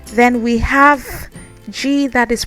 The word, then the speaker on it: J: Then the interesting thing is that the J is now pronounced like G in English, but also without the stress. So it's as if G and J are interchanged, but without the stress.